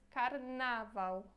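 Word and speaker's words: karnawał: significa carnaval então é a escrita é diferente a pronunciar Quase igual só na verdade acho que o acento É um pouco diferente porque em português a gente fala carnaval em polonês carnaval ok uma outra coisa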